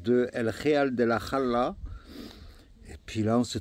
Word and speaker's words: Jara: Et ce village, c'est El Real de la Jala. Ça s'écrit Jara, mais on dit Jala en espagnol.